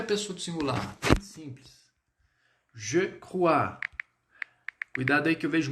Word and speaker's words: crois: Então, quando a gente trabalhar esse je crois, sonzinho de UA. Je crois, crois, tá? E o S sempre muet. On va pas prononcer. Então, a gente não vai pronunciar o S.